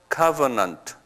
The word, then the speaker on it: covenant: covenant 그래요. 한번 발음해 보실래요? 액센트가 앞에 있어요. covenant.